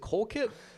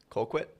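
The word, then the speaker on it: Colquitt: Co, is it Kolkit? Kquit. Kquit. Thank you. I've been saying it wrong all day.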